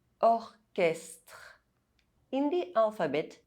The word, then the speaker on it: orchestre: However, in some words, CH is pronounced K. Technique, orchestre.